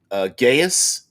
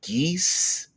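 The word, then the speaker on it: geas: We used to pronounce it Gaius, and now it's like geese.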